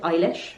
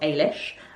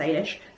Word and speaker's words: Eilish: I am listening to the audiobook, and he does pronounce it Eilish, not Ailish. I've only ever heard it pronounced Ailish. He is Irish though, so maybe I'm using the Ulster pronunciation.